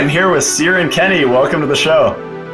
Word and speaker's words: Xiren: Yeah, well, almost no one pronounces the X like an S or a C, but it's an Irish name. My dad is a Dolphins Barn Dubliner, so it's an Irish name with a bit of a creative spelling, and the original Latin X as an S, so Xiren.